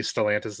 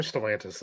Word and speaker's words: Stellantis: But so what is the proper pronunciation after all of that? Stellantis? I'm pretty sure Stellantis is the way to go, though Mike didn't correct. Stellantis, not Stellantis.